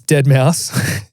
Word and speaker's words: Deadmau5: playing and I was like get out it's dead mouse she's like who cares I feel like at